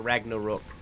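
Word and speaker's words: Ragnarök: and stuff um but the way that I've always heard it like pronounced that I thought was correct um was Ragnarok instead of Ragnarok like a lot of people say I believe it's a Ragnar Rook uh but I don't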